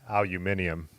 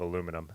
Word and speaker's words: aluminium: account rusty oh yeah say it as a um if i was a gcn presenter or someone from britain aluminium i do like that pronunciation of aluminum aluminium i've actually become